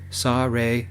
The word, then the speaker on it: Seorae: It's pronounced Sa-Re and Sage. Sa-Re is in the Seicho district in Seoul.